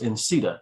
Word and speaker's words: NCEITA: So she and others created what became NCEITA, which was pronounced INCETA.